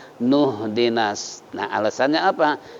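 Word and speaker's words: اهدنا: na'budu wa iyyaka nasta'in ihdinas, jangan, tapi bacanya nuh dinas. Nah, alasannya apa? Ini alifnya alif wasol, jadi nggak perlu nasta'inu ihdinas, tapi nasta'inu dinas. Jadi seakan-akan alif dibuang, ya, karena alifnya alif wasol.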